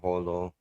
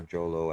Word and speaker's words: Jolo: Sulu or basilan or Holo H or Jolo as some of you may pronounce it um those islands are